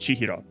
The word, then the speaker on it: Chihiro: And then these two characters here together are pronounced chihro.